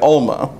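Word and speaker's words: עלמה: this hebrew word is if i can pronounce the right alma for something like that the guttural is a little difficult for me but it's it's we usually say alma and this may refer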